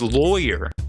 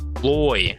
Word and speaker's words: lawyer: I say lawyer because it's called a law and then you're. It's exactly how it's spelled. But apparently it's lawyer. Loy. Like you're loitering. But it's lawyer, not lawyer.